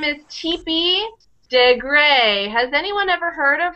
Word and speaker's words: Degré: And the last E has a tilde over it.